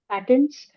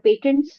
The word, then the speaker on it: patent: There's patents, or patents. You can pronounce it either way.